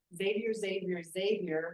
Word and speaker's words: Xavier: Xavier rhymes with Savior.